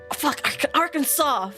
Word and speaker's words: Arkansas: it is so we've got Alabama Alaska Arizona AR Kansas California Colorado Connecticut Delaware Florida Georgia Hawaii Idaho